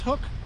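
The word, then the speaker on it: Huk: But anyway, if you're looking for a good pair of fishing gloves, cold weather fishing gloves, these Hook, I guess it's pronounced Hook, H-U-K, They got a little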